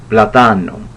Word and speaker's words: Platano: Well, let me pronounce it correctly in Italian. Platano, because it's spelled the same way as plátano, which is the Spanish word for plantain.